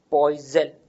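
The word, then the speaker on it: poiseuille: इसका SI unit होता है पॉइजल, ये फ्रेंच वर्ड है, इसको प्रोनाउंस पॉइजल की तरह से करते हैं।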